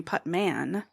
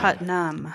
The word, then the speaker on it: Putnam: probably a couple years kept referring to me as Putman oh not Putnam my grandma always called